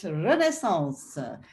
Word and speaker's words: Renaissance: that is French, so I will pronounce it a little bit differently than Diederik just did, Renaissance.